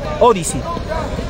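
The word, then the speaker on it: Odysee: Y también invito a Chasqui TV, a esa aplicación, que es norteamericana, sí, lo acepto, Odyssey, Odyssey, que se escribe Odi con O-D-Y-S-E-E, Odyssey.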